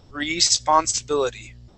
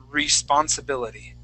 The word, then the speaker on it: responsibility: right so remember okay we want our tongue to be kind of curved down and we're going to say re responsibility re re responsibility okay